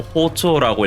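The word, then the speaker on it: 包丁: 예외적으로 식칼을 포정이라고 쓰고 호초라고 읽는데 칼질을 한 번 해서 두부를 팔았기 때문에 두부 한 모를 이쪼라고 한다.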